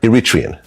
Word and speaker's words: Eritrean: So you're Iritrian. Mhm. Wow. You pronounced it right.